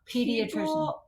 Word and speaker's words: pediatrician: it's a big word starts with the p it's not a silent P why why why are people weird about pediatrician I I love my